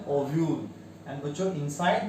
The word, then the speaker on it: ovule: What is the pronunciation? ओव्यूल.